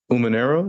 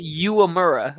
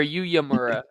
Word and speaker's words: Uemura: He wrestled Yuya Umanero. Is that how you say it? No. No. Yuya Uemura or Uyamura, but Oh, I've it's been saying it so wrong.